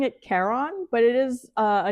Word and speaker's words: Charon: So actually, there's 3 ways you could say it, like Karen, Sharon. So I've been pronouncing it Charon, but it is a name from Greek myth, not grief myth, Greek myth.